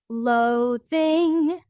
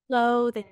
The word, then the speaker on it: loathing: So they said loathing, instead of loathing, which is way lower.